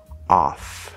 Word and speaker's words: off: Off. And that does have an F sound.